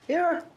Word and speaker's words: Aaron: Aaron. Why didn't you say it the first time I said Aon? Because it's pronounced Aaron.